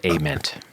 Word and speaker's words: Ament: And so the bass player Jeff, how do you say his last name? Ament? They say, I've always said Ament, but I think it's Ament.